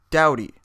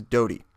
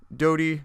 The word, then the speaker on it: Doughty: by the artist's name I assumed it was Mike dowdy like I said I never heard of him before I realize now that everything that I've heard it pronounced as is Dodie so I apologize for that we didn't know who he was super cool dude Mike Dodie not dowdy from what I've heard